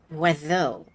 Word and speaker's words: oiseau: It's pronounced Oiseau.